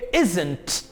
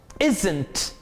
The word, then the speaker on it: isn't: और इज नॉट की contraction होगी इजंट, इजंट, इजंट, इजंट के थोड़ा सा ज कह के आप इसे प्रोनाउंस करेंगे, इजंट, इजंट।